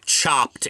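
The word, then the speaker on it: Chopt: what the chain yeah it's called chopped and it's spelled c h o p t okay I don't think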